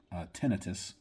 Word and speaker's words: tinnitus: I don't have tinnitus, or I guess some people pronounce it tinnitus.